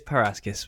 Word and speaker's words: Parashis: It's Parashis, but it's all good.